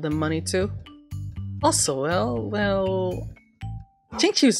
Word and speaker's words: Xingqiu: Xingqiu! I researched it, okay? I researched how to say it, okay? Now you can shut up. Xingqiu.